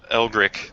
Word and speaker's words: Elri: yeah okay I or elri not ol stop saying it wrong elri uh you can uh